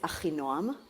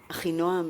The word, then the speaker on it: Achinoam: My name is Achinoam. Achinoam in Hebrew means sister of peace. Achinoam, right?